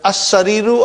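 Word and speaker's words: السرير: And in as-sariru, I only pronounce hamza. And I did not pronounce the lam.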